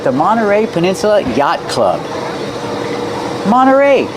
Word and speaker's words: Monterey: Monteray. You have NT. You don't hear the T when it's between vowels. Monteray. You can say Mterrey, but you'll usually hear Monteray.